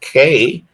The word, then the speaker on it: Cai: I want you guys to meet CAI, and that is pronounced Kay.